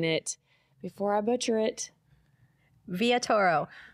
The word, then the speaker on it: Villatoro: Villatoro. Villatoro.